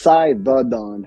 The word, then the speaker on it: Cythadon: How do you pronounce it no, fully? so it's Cythadon.